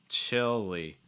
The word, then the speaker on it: chili: but yeah so chili notice how we're pronouncing this chill short i sound chill and that short